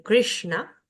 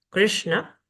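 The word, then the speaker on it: कृष्ण: shiva o de show tenemos la s cerebral que se pronuncia con la lengua hacia el paladar superior es la s de krishna krishna Y tenemos luego la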